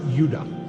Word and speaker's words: Judah: More properly pronounced Judah.